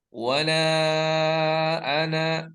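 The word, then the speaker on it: وَلَا أَنَا: Itu adalah tanda baca bahwa tidak boleh dipanjangkan ya. Maka yang tadi seharusnya kita baca wala ana ya, yang seharusnya kita baca seperti itu, tapi karena ada tanda sifar itu ya, tanda nol seperti itu ya, tanda bulat ya, maka kita bacanya pendek ya.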